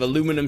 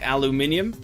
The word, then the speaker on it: aluminium: it yeah it's a it is a little bit weird to see like people go from like like say aluminum suddenly while like dropping an entire syllable but whatever my desk